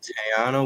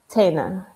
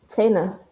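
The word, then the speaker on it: Taina: Uh, we got G Herbo and Tayana Williams. Did I say her name right? Tana, you got to ask like I did not say it right.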